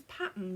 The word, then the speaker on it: Patons: that specifically says that I've heard some people pronounce this as pattern as well but I thought it was patons 100 gam balls oh